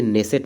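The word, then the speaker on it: Knesset: এটা speaker of দি নেসেট medal হবে। ঠিক আছে? এখানে কে উচ্চারণটা কিন্তু সাইলেন্ট থাকে। আর নেসেট কিন্তু হচ্ছে ইসরাইলের যে ইসরাইলের যে আমরা বলতে পারি যে উচ্চকক্ষ যেটা বলে বা পার্লামেন্ট।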